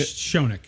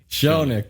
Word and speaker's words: Shonik: No, it's Shonik. Shonik. that's Polish. right.